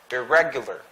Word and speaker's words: irregular: Next, irregular. Irregular. The stress is in the re. Irregular. Second syllable.